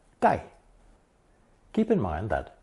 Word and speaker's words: 盖: Pronounced fourth tone 盖.